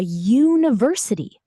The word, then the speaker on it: university: It starts with a y sound, which is a consonant sound.